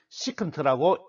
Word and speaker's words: 시컨트: 그런데 코사인 시타는 이미 정의되어 있으므로 이미 정의되어 있는 코사인과 헷갈리지 않도록 역수의 코사인에서 SIN을 SECANT로 고쳐서 정의하고 시컨트라고 읽습니다.